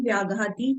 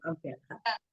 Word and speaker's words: अव्याघाती: शुभम विशुद्धम व्याघाती चाहारकम प्रमत्त संयत शैव। पीछे वाले अभी याद नहीं हुए। हाँ, लेकिन ये प्रोनाउंसिएशन गलत है। शुभम विशुद्धम, शुभम विशुद्ध व्याघाती नहीं है, शुभम विशुद्धम व्याघाती। अव्याघाती।